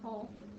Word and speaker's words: whole: That's silent W whole.